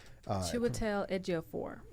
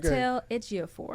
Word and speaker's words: Chiwetel Ejiofor: Chiwetel Ejiofor. See, Miss McCrae. I'm the film girl. That's not how you pronounce it.